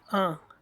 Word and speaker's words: un: So for masculine and singular we use un. Try to learn its pronunciation. It's un.